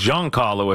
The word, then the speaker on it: Giancarlo: press conference Giancarlo Stanton Giancarlo its Giancarlo if you wanna know how to pronounce that's the official Giancarlo Stanton is now